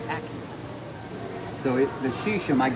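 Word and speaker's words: Acura: a loud argument that it's not akira it's accurate so it the sheesh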